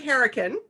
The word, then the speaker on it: Hourican: So we're here today with Emily Hourican.